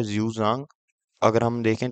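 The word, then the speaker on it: Xuanzang: और फिर आते हैं हमारे पास यूजांग जिसके असली प्रोनंसिएशन ये है जजांग अगर हम देखें तो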